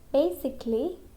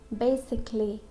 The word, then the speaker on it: basically: So when we have LLY at the end of the word, okay, and before there is A, so we don't pronounce A. A will be silent. Okay? Basically, we can't say basically. That will be wrong. Or basically. Okay? It's basically. Basically.